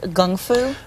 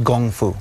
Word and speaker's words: kung fu: it is it true that traditionally it was pronounced gungfu actually that's that's correct it's actually that's how